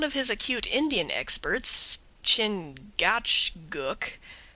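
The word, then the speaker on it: Chingachgook: his acute Indian experts chin Gaucho Guk pronounced Chicago I think has lost the trail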